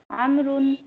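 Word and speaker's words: عمرو: The proper name Amrun is written with a vowel which is not pronounced.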